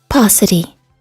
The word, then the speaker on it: paucity: The NFL for decades has been criticized for its I have not ever heard this word pronounced. Let's find it. Paucity.